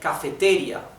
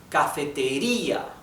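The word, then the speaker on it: cafetería: We don't say cafeteria. We do not say cafeteria. We do not say cafeteria, we say cafeteria, right? So the intonation is in letter I, cafeteria, right?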